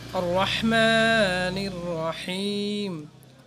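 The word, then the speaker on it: الرَّحْمَٰنِ الرَّحِيمِ: আর রহমানির রহিম, এই এত সহজে উচ্চারণ করতে হলে যে বড় হা আছে, এই হাটা ভিতর থেকে উচ্চারণ করতে হবে, সহিশুদ্ধ করতে হবে।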